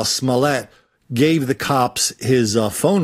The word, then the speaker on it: Smollett: In the scheme of things, this Jussie Smollett story, I just learned how to pronounce his name, Smollett.